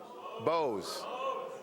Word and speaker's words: Bowes: Bowes. I want to make sure I said it right. Bowes. It's like you.